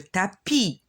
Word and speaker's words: tapis: balle est sur le tapis le s on le prononce pas d'accord une plume sur